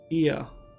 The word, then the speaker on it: Ia: When the vibration of vocal folds was still required to convey our thoughts and intention, Ia, I believe, was the pronunciation used when referring to our people.